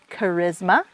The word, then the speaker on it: charisma: There's CH k, like charisma.